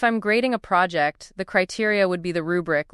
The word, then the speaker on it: criteria: C R I T E R I A pronounced criteria with the accent on the second syllable.